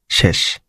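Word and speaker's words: 紙: তো এটা কামি বা কাগজের কাঞ্জি। এটার ভিতরে অনেকগুলো স্ট্রোক আছে, আপনার নিহন বা সাইটে গেলে এটা নিজে লিখে দেখতে পারবেন। এটা অনের হচ্ছে উচ্চারণ হচ্ছে শি, কুনের উচ্চারণ হচ্ছে কামি।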